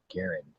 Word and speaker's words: Garand: question yes it's John Garr okay John C Garen although the name Garand is frequently pronounced Gand the preferred pronunciation is Garen to rhyme with Aon there you go you've